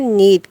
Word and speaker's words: knead: इसके इंग्लिश है नीड, KNEAD, के साइलेंट है।